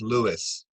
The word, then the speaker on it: Lewes: in our community here it's and it's it's pronounced lewis by the way thank you yeah you're welcome